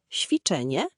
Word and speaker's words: ćwiczenie: Ci to zmiękczony czy. Porównaj czy twarde versus ci miękkie. Ćwiczenie, ćma, bocian.